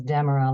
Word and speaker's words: Demara: So it's Demara, like Deborah, only with an M.